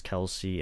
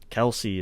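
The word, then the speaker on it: Kelce: mm-hmm and i'm glad you brought up travis kelsey and tyree kell because they're those are the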